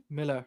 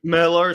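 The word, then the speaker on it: Millar: so the other thing is like but it's pronounced Miller Miller so okay I'll do it that way but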